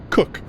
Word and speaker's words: Koch: i assume i said it's spelled koch but it's pronounced cook captain cook replied shaking